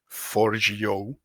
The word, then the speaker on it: Forgejo: soon migrating everything to Forgejo. At least I am told that this is the correct pronunciation.